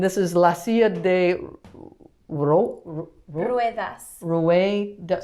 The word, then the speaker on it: ruedas: And this is la silla de ruedas. Ruedas. So it's a U. You say the U and the E.